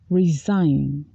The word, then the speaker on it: resign: align newspapers traditionally align themselves with political party resign resign the president will have to resign for